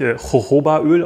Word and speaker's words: Jojoba: Ich habe vor kurzem gehört, dass das eigentlich, weil viel aus Mexiko kommt, glaube ich, Hohoba-Öl ausgesprochen wird.